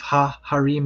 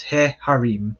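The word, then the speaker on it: הֶהָרִים: So you'll notice that instead of ha harim, it's he harim with a segol.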